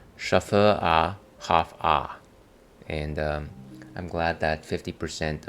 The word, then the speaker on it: Schöfferhofer: we'd like to introduce you to the proper pronunciation of our unusual and challenging name, Schafferhofer.